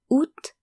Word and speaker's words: août: So that's janvier, février, mars, avril, mai, juin, juillet, août, septembre, octobre, novembre, décembre. So two things to note here is that the A in août is silent.